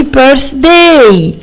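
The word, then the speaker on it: birthday: عيد ميلاد سعيد برضو كلمه بيرث التيش ننطقها س زي ايه يا حبايبي برافو التيش اللي موجودين في كلمه 3 اللي هو رقم 3 بقيه الارقام عندنا 9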